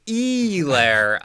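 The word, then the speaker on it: Helaire: clyde edwards if um apparently if you're listening to monday night football you're supposed to pronounce that clyde edwards e lair chief's helmet uh 200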